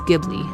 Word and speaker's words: Ghibli: There's a G and an H together. It's Giblly.